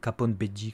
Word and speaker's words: Bege: c'est pas B c'est c'est pas BG c'est pas beuger c'est pas Bege non plus ellement beigge si on se dit que Beji c'est la prononciation de beigge mais vu qu'il y a pas de i après le E on va dire Capon bi comme comme la japonais le mafieux par excellence